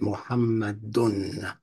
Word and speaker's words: Muhammadun: He pronounces it Muhammadun and Muhammadan. That's generic. That little AN sound and that UN sound, Muhammadun, that's generic.